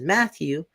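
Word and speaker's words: Mathieu: are just finding out my name is Matthew is it how it's spelled because it's oh definitely weird it's uh comes from a French last name apparently but it's m-a-t-h-i-e-u so it's like seriously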